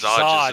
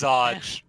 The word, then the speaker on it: Zodge: It's not Zorn. Is not the name of the captain. I Oh, seem to have lost Zodge. Zodge is his name. It's Zodge.